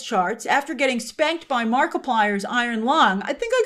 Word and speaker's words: Markiplier: Uh then on digital with Apple's charts, after getting spanked by Markiplier's Iron Lung, I think I got Markiplier pronounced right, right? I think it's like multiplier.